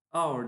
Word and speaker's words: hour: Bizim burada dikkat etmemiz gereken ismin yazılışı değil, telaffuzu. Örneğin İngilizce'de saat anlamına gelen hour diye bir kelimemiz var.